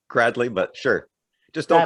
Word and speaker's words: Gradley: introduce you to him gary greatly and i hope i pronounced that right that's close enough gradley but sure just don't